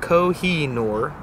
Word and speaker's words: Kohinoor: says meeting mountain of light and Persian kohinoor pronounced kohinoor is hard to say but a pleasure to